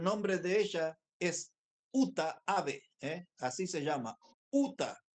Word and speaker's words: Abe: muy fácil es japonesa se escribe ut a Uta ave eh como ave como pájaro pero con b larga y entonces cuando ella